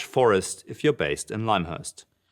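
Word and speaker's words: Lymhurst: everyone was dead wrong it's called limehurst ladies and gents whoever calls it limur now from now on should get stoned to death limehurst all right we call it lime we don't call it limb we call it lime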